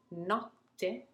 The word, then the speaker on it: notte: What we do then is to linger and to pause actually before the letter T is pronounced. Note, notte. You see it, you hear it actually, how I'm lingering and pausing and taking my time before pronouncing the double T.